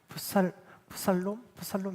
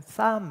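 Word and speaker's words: Psalm: 저는 예전에 어렸을 때 몰랐을 때는 이걸 푸살롬 이렇게 읽어야 되나? 막 그렇게 생각을 했는데 묵음들이 많아서 그냥 쌈 이렇게 읽어집니다.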